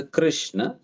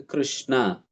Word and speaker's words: कृष्ण: देते हैं तो फिर जैसा कृष्ण को वो उच्चारण कर कृष्णा करके उच्चारण करेंगे तो यह कृष्णा कहना यह फिर स्त्रीलिंग हो जाता है कृष्णा स्त्रीलिंग होगा इसलिए कृष्ण यह सही उच्चारण होता है कृष्णा वहां पर